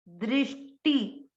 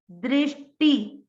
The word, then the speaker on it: दृष्टि: ट और ट पे ई की मात्रा, दृष्टि, दृष्टि। टी की मात्रा छोटी है, आपको उसको दीर्घ नहीं करना है।